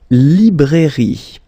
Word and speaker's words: librairie: Then, la librairie, okay? Remember, I here, librairie, final not pronounced.